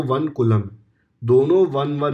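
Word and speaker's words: coulomb: है कूलम ठीक है स य एल ओ एम बी इसको बोलते हैं कूलम बी को प्रोनाउंस नहीं करते हैं लेकिन आप कर दो तो भी प्रोनंसिएशन तो मार्क्स मिलने नहीं वाले कलंब बोलना है तो कलम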